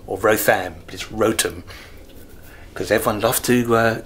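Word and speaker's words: Wrotham: north is a Rotom we thought it was pronounced rotham or rotham please rotem because everyone loved to correct you on your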